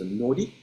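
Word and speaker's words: 法: It is pronounced either ho, or in our Japanese indigenous pronunciation, it can be translated as nori, but it means, in a secular language, it means law.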